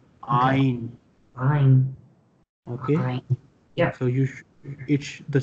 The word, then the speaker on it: ع: So Ain is an alphabet which is pronounced from the neck. Okay? Yeah. Pronounce Ain. Do you feel pressure on your neck? Ain, yeah. Ain. You will feel that the sound is coming from the neck, not from your mouth.